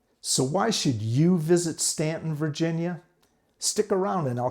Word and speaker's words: Staunton: And it's pronounced Staunton, not Staunton.